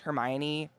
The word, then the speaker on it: Hermione: I totally get it why it's Hermione now. But like when there's no media to tell you you're pronouncing it wrong, like I couldn't ask my parents, like, what's this wizard name?